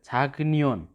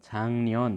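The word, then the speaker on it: 작년: जस्तै यहाँनिर छाक्नियोन। छाक्नियोन छ लेखाइमा त, तर यसलाई क्लियर उच्चारण के हुन्छ त? छाङ्नियोन।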